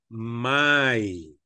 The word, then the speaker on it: my: Porque la correcta pronunciación es my.